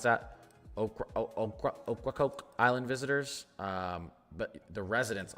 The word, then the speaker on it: Ocracoke: Ocracoke Island visitors. But the residents on here are allowed to stay. So you actually only have Hatteras Island being ordered to evacuate residents. Ocracoke? Yeah, so Ocracoke, they're actually only evacuating non-residents and property owners,